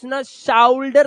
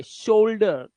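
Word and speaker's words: shoulder: तो ओ उच्चारण जैसे ओ यू के बाद शाउडर नहीं है यह शोल्डर मोल्डर बोल्डर मोल्ड मोल्ड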